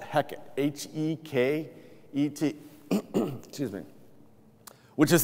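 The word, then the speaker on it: Heket: and the name of this goddess was called heck h-e-k-e-t excuse me which is the goddess of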